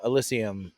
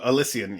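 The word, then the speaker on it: Elysian: for the pumpkin episode there was an uh alysium is that how you pronounced it e y I mean it's it's an AB inev Craft Beer Brewery now alysium oh alysian yeah yeah they have like a pumpkin mix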